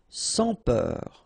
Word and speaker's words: sans peur: Okay, pronounce the final R, E-U-R, heure, peur. Sans peur. Don't pronounce the final S here. Sans peur.